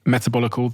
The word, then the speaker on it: Metabolical: book and I also have this book called metabolical did I pronounce that correctly you did metabolical the L and the lies of processed food